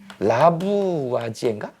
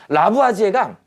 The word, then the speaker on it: 라부아지에: 할 거예요 네 아까 라부아지인가 이게 맞냐 라부아지에요 발음이 이상한데 라부아지에가 화학자예요이 사람이 주철관 실험을